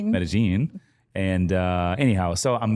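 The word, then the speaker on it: Medellín: of the listeners might be thinking oh it's pronounced medine it's metagene and uh anyhow so I'm there hanging out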